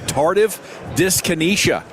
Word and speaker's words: tardive dyskinesia: us to talk about TD, not touchdowns, but tardive dyskinesia.